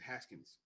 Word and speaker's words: Haskins: No, his name is Haskins. That's what I said, Askins. You said no, Haskins. No, the H is silent. The H is not silent.